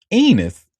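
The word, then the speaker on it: Enes: So his name is actually pronounced um Enus rhymes with penis.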